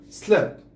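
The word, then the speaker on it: slipped: اذا تصبح slept الدي تلفظ تي بهذه الحالة slept.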